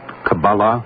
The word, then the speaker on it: Kabbalah: When did is it Kabbalah? Is that the way you pronounce it?